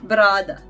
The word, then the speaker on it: brada: Then we have Croatian letter B, and the Croatian word is brada. Brada. Brada means beard, and it is exactly like the B, the B in the beard.